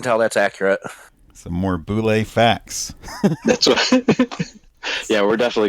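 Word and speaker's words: bulette: in the original publication there is a pronunciation guide in there in parentheses and it's it's very clear that it's Boule so the thing is um when it came out Dragon magazine number one and it says pronounced Boule in parenthesis uh the parenthetical note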